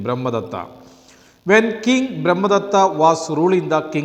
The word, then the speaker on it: Brahmadatta: When King Brahmadatta was ruling the kingdom of Varanasi, the Bodhisattva was born on his only son, and he was named Brahmadatta after his father.